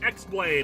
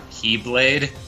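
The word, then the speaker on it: χ-blade: oh uh linkara um that's actually pronounced keyblade it's dumb but that's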